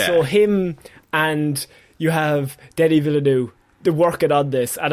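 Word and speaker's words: Denis Villeneuve: Um Dennis Vill I'm going to mispronounce his name. Please, it's Denny Villanu.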